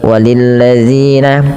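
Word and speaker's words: وَلِلَّذِينَ: Pada lafal walilladzina hati-hati dalam lafal dalilladzi ya. Jadi kita harus hati-hati diulang-ulang terus bagaimana cara membacanya yaitu ujung lidahnya nempel dengan gigi dari atas ya.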